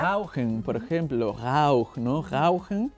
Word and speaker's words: rauchen: Rauchen, no es Rauchen, es Rauchen, ¿no? Y en verdad es una cosa tontísima, pero simplemente el hecho de cambiar la R a la R alemana ya mejora mucho tu dicción, la gente te entiende más.